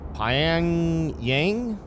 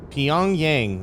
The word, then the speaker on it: Pyongyang: it, but it's I think it's Pyang Yang. Hang on. I got Google Translate up. Pyongyang. Pyong. Pyongyang. There we go.